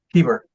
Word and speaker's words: Heber: How do you pronounce it? Heber.